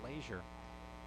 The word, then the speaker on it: Leisure: The batter now is Bryce Leisure, spelled like pleasure without the P, but pronounced Leisure.